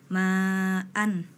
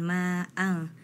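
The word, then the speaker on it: ماءً: Nah tadi malah dibaca ikhfa ya, padahal itu idhar, harus dibacanya jelas ma'an, jangan ma'ang ya.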